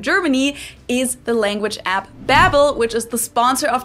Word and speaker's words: Babbel: In English-speaking countries, they go by Babbel, like I just said it, whereas in Germany, we actually say Babbel.